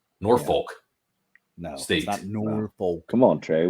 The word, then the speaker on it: Norfolk: you sure do because Northfolk sck is Head and Shoulders the best team in that conference the the but you never say it correctly Norfolk no state come on